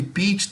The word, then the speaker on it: peach: Lembra que peach termina com CH. Qual é a pronúncia de CH? Que nós fizemos na aula, né? Então, CH, peach. E como o peach tem EA, o som é longo.